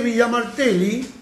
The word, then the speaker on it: Villa Martelli: y se produce villa martelli buena y se pronuncia villa martelli y ahí intentamos de resolver el problema cuando